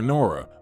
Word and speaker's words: Nora: elanora but they affectionately called her Nora with the emphasis on the first syllable they continued to live